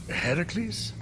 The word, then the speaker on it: Heracles: phoenix after boldly besting the gorgon that ambushed heracles what are you doing there that thing with your voice heracles yeah that that is how it's supposed to be pronounced seems like a lot of work but